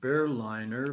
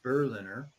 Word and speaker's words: Berliner: For some reason, I kept calling him Berliner, but I think obviously the correct pronunciation of his name is Berliner.